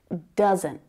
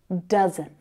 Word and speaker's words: doesn't: It is way more common to hear native English speakers say doesn't, doesn't, doesn't. And again, you can hear that stopped T sound, right? You've also got two syllables there. One of them is stronger than the other. Can you hear it? Doesn't, doesn't, doesn't. That first syllable.